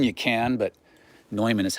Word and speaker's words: Neumann: You want to call it Neumann, you can, but Neumann is how you actually pronounce it.